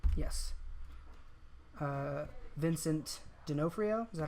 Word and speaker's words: D'Onofrio: Vincent D'Onofrio. Is that how you pronounce it? D'Onofrio.